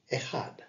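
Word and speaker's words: אחד: Now the Hebrew word for one is Echad, and is spelt as follows: Aleph, Chet, and Dalet, and is pronounced Echad, meaning one.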